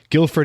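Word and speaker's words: Guildford: i pronouncing that right yes because the D is silent yeah right Guilford England and she started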